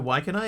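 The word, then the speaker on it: Waikanae: Did you know Waikanai is the city of LNP? That's how you pronounce that, by the way. Waikanai.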